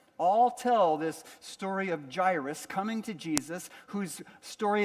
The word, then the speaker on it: Jairus: It's about this character whose name is Gyrus is how you say that.